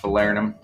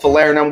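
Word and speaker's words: falernum: find uh this guy this is our fallernum pronounced falarinum but sometimes we slur those words this is called falerinum we're gonna be putting in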